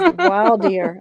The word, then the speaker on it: voir dire: Voir dire. Oh, I guess it is voir dire. I looked up how to pronounce it.